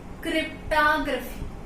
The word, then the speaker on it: cryptography: लेकिन हम इसे प्रोनाउंस कैसे करेंगे, ओ की जगह ए, एज क्रिप्टोग्राफी।